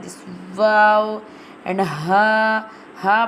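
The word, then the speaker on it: واو: Wow pronounced from the empty space of the mouth, like this. Wow.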